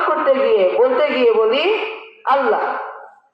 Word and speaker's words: আল্লাহ: গিয়ে বলতে গিয়ে বলি আল্লাহ আসলে আল্লাহ শব্দের মূল উচ্চারণ হবে আল্লাহ এখানে লাম বলতে গেলে দুটি গোল করে বলতে হবে আপনারা বলুন আল্লাহ